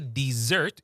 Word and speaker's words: dessert: Now, when we say dessert, you notice that that double s becomes a zed sound. Dessert. Yeah. It becomes a z sound.